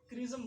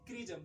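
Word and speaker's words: chrism: यहाँ पे हम इसको क्रिज्म बोलते हैं। क्या बोलते हैं, क्रिज्म। यहाँ पे चिरिज्म नहीं बोलेंगे, क्या बोलेंगे, क्रिज्म। सी एच का उच्चारण यहाँ पे आपको क आएगा।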